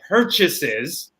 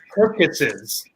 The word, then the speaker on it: purchases: But one word was purchases, and he pronounced it purchases. So he didn't have the CH sound, that cha. He was pronouncing as a ka sound.